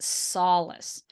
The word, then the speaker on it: solace: the L and the a so you get Solace so if you can pronounce this word with English speakers they're going